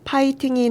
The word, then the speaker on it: 파이팅: 맞을까요 아니면 파이팅이 맞을까요네 바로 파이팅이 맞습니다 파이팅 은 영어 파일링을 우리말로 표기하는 건데 F 발음은 피흡으로 표기하는 것으로 규정하고 있습니다 1990년대에 태어난 분들까지 아마